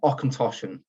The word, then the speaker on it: Auchentoshan: of the field in Gaelic in garlic and occontoshan is how you would pronounce it in terms of a little bit